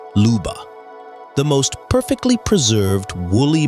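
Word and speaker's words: Lyuba: Meet Leuba, pronounced Luba, the most perfectly preserved woolly mammoth calf ever discovered.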